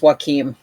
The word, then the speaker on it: Joachim: Yeah, that's what that way you pronounce that name is Joaquin.